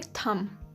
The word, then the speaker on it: thumb: इसकी स्पेलिंग है THUMB, पर इसकी प्रोनाउंसिएशन होती है थंब।